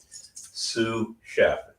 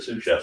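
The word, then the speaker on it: sous chef: Sue chef, it's spelled s o u s, right?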